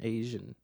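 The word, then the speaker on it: Aegean: aan which is a it's like his initials AG n but like spelled out phonetically a e g e a n Asian so he's Dawan Dawan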